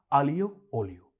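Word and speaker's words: aglio olio: India के कई Italian menus पे आपने देखा होगा पिज्जा आलियो ओलियो और पास्ता आलियो ओलियो। इसका लिटरल मतलब है गार्लिक एंड ऑयल और इसका सही उच्चारण है आलियो ओलियो।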